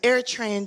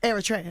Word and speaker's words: Eritrea: He's an Eritrean Jew.